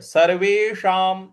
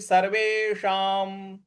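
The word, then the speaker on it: सर्वेषाम्: सर्वे और उसके बाद जो षट्कोण वाला श है सर्वेशाम तो जीभ को रोल करके ऊपर मूर्ध्वा पे लगाएंगे और जो अनुस्वार है उसके आगे म लिखा हुआ है तो इस अनुस्वार का उच्चारण भी हमें म ही ले आना है तो पूरा पद बन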